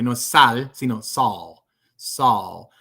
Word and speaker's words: Saul: El nombre Saul. Saul. Es como sal en español, pero no igual, porque no es sal, sino Saul. Saul. La L en inglés es más suave, no es tan tensa.